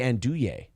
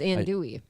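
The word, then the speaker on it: andouille: uh mark gill says you uh also don't pronounce the l's in andui that well that would be andy it's ann dewey oh is it well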